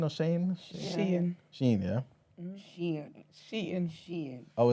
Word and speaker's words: Shein: Is it Shein or Shane?